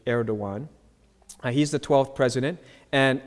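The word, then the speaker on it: Erdoğan: different from our letters so that Gan is actually air dawuan he's the 12th president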